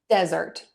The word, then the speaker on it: desert: the word desert first I'm going to stress syllable one desert desert desert the key